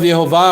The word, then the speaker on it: Yehovah: So the vowels here, very different from the vowels of Yehovah. The vowels of Yehovah are not the same vowels of Adonai.